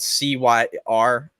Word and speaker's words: Cyr: Blake Cyr, it's spelled C-Y-R.